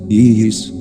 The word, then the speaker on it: Isis: Este mantram se pronuncia así, Isis, Isis. Como veis vosotros, la S debe prolongar con un silbido suave y apacible.